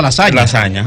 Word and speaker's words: lasagna: Sí, en latín GN es ñ. Por eso tú ves que, por ejemplo, se escribe lasagna, pero la gente produce lasaña.